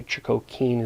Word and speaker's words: Chogokin: Technically, Chogokin is the proper pronunciation, but it's a mini SoC.